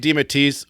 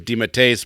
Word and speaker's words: DeMatteis: And then I could have sworn I watched an interview where he said you could say it DeMatteis, but the actual pronunciation is DeMatteis, but either way is fine for him.